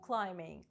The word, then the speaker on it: climbing: Rope climbing – лазіння по канату. Зверніть увагу на слово climbing від дієслова to climb. Літера B не читається.